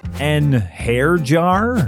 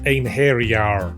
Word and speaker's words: einherjar: And those are just the ones I can pronounce. An hair jar? It's pronounced ein hairyar.